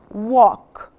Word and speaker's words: walk: l not l no i don't pronounce the l l walk walk to school so